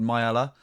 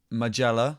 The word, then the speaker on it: Maiella: We heard Tim yesterday talking about a place nearby called Mayella, or Magella, which of course if you were Spanish, you'd pronounce with like an H sound, so go back to Mayella. But if you keep the J in there, Magella, that's where we get Magellense from.